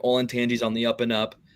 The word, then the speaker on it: Olentangy: I don't know if I can pronounce it correctly off the bat. Olentangy? Is that right? Olentangy, yeah.